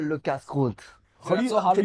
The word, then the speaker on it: Le Casse-Croûte: It was called Le Casse-Croûte. So that's so hard to pronounce. Can you spell that? LECASSECROUTE. Le Casse-Croûte. Okay. So people used to call it La Casa, La Casa Croûte.